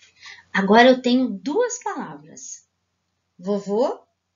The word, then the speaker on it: vovô: a fivelinha da vovó vovô é a sílaba mais short é o acento circunflexo como se fosse o chapeuzinho da vovó e do vovô que estão entendendo a diferença